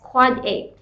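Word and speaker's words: AAAA: use quad a okay we pronounce this as quad a now after that your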